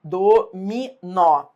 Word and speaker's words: dominó: Assinale a alternativa cujo vocábulo existe com e sem acento, dominó. Dominó, o substantivo é oxítona.